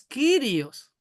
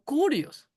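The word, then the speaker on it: κύριος: Es Kirios, pero algunos dicen curios porque la Yilon parece una u, pero no es una u. Recuerde que el idioma griego es las letras son griegas, algunas son parecidas a nuestras letras españolas, pero se pronuncian diferente, ¿no? Entonces es kirios, pero muchos muchos nombran como curios.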